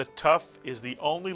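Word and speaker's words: ת: If you take the Dagesh out of the Tuf, it is still pronounced as T, Tuf. And I say that because some of you at one time may have been pronouncing Hebrew in the Ashkenazic dialect, where the Tuf did make a different sound if you took the Dagesh out, and then it was called a Suf.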